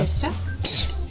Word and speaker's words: Worcestershire: bit more sugar and a little bit more Worcestershire. How do you pronounce it? Worcestershire. That's not what I heard. Worcestershire, right? So that's 500 grams of... It's actually Worcester. Just so you know. Worcester?